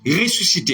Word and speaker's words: ressuscité: e r enécole l'école fa qui c'est l'école ressuscité à l'infinitif R s s c t